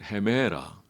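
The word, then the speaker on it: ἡμέρα: 히브리어로 때 시간은요 용이라요 헬라는 헤메라 꼭 우리 한글 헤메라 그런 뜻인데 거의 발음이 비슷해요 헤메라 헬라 헤매라 맞아요 시간이에요 근데 주님은 언제나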